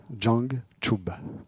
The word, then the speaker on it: Jangchub: Jang, comme Django, sans le O, et Chub, comme C-H-O-U-B, Jang, Chub.